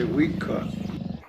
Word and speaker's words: Uika: Uika, mountain lion. When you're saying it and talking the language, you just say Wika.